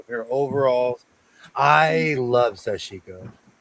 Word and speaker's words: sashiko: And okay, I'm gonna say it properly. Sash sashiko. Sashiko. I I used to add an N.